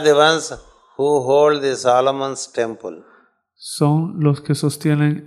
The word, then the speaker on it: Solomon: Solomon. Solomon. Yes. Los tres sonidos. Sol, Om, An. These are a triple sound word.